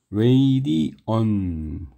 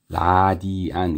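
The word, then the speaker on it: radian: 라디오의 원래 발음이 웨이디오전 그죠? 레이디오 그래서 이것도 레이디언 이게 이제 원래 발음이고 교과서에는 라디안 이렇게 써 있어요. 근데 아무리 아무리 생각해도 라디안은 너무 거 같아요.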